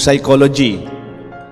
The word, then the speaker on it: psychology: kunyari po sabi nila yung psychology silent p ba humor silent aids